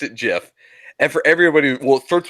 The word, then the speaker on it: GIF: it always was like the guy who created it say it was a jiff like he's right it's